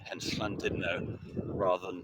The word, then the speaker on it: Llandudno: your tongue, and also when there's a U in Welsh, it tends to be pronounced as an I, hence Llandudno rather than Llandudno, and other such rules there.